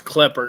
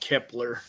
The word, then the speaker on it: Klepper: First of all, it's Kapper, not Kepler.